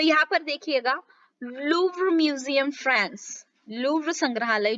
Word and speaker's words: Louvre: तो यहाँ पर देखिएगा, लूव्र म्यूजियम फ्रांस, लूव्र संग्रहालय जो कहाँ पर है, फ्रांस में है, लूव्र, प्रोनाउंसिएशन ध्यान में रखिएगा।